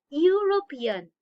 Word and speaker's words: European: are called vowels right you have started any verb with this vowel but it doesn't sound like a vowel what it is see here european it has been started